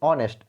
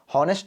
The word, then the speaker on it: honest: तो हॉनेस्ट को क्या पढ़ते हैं, ऑनेस्ट पढ़ते हैं, ऑनेस्ट, ऑनेस्ट, ऑनेस्ट, यानी कि अ का उच्चारण इसमें भी हो रहा है, तो इसमें भी क्या